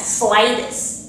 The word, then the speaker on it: Thwaites: Let's say that, Thwaites. That's how you pronounce it.